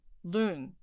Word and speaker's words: 仑: Check whether a character with the pronunciation lun already exists. We find the character lun.